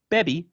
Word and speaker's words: bebe: therefore stress moves from the typical penultimate position to the final position so you can know the difference between baby and baby right bebe is going to be she drinks baby i drank right so this uh